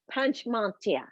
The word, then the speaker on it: Panchmatia: And I am blessed to be talking to Panchmatia. Panchmatia. Did I say it right? You did, yeah, it's phonetic. Panchmatia.